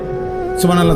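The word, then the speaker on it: سبحان الله: পরে এটারে মেশিনের মতো সুবহানাল্লাহ সুবহানাল্লাহ সুবহানাল্লাহ সুবহানাল্লাহ সুবহানাল্লাহ, কিচ্ছু হয় না। এটা হা উচ্চারণ না হলে তো তাসবিহ হয় নাই। শেষের গোল হাটা সাকিন করতে হবে এবং প্রত্যেকবারই নিঃশ্বাস ফেলতে হবে।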